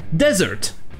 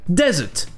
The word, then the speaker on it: desert: En anglais américain, ça se prononcera desert, avec le R prononcé, desert. Par contre, en Angleterre, le R sera muet, desert, desert.